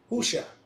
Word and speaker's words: Hosea: Hosea is what I said? Yeah. My Yeah. bad. It's not. It's Husha.